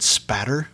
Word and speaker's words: spatter: Did they test the blood spatter? See, I said it right that time. So proud of you. Yeah, no L in that spatter.